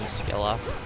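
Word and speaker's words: Scylla: Forgot that they pronounce her name Skila.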